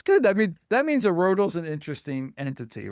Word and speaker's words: IRRODL: Is it IRRODL or IRRODL? What's the official name? Somebody? I always say IRRODL. Okay. Depends who you ask. That's good. I mean, that means IRRODL's an interesting entity, right?